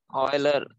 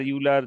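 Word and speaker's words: Euler: যে ভদ্রলোকের মাধ্যমে যেটা অয়লার? হ্যাঁ হ্যাঁ, অয়লার ইউলার যাই বলো, মানে যে উচ্চারণ নিয়ে আমরা বলি।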